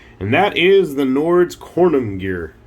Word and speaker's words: Konungyr: that is the nord's kornum gear corninger i don't know i do know that corning conan gear if i can pronounce the word correctly is supposed to be like an old norse term for a king or something along those